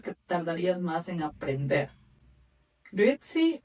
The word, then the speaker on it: Grüezi: La grit, tienes que pronunciarlo con la U, los puntitos, ¿no?